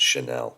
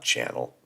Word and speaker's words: Chanel: don't buy I I I believe it's pronounced Chanel not channel the Chanel logo in